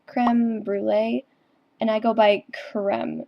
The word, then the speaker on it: Cr3meBrulee: It's actually creme brulee, and I go by creme, not cream, because those are two completely different things.